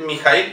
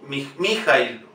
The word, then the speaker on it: Mijaíl: Es importante decir Mijaíl y no Mijaíl o Mijaíl.